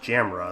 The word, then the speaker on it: Jamila: For the new episode, the writer upped the ante by giving Jamila, now pronounced Jamra in this version, the ability to appear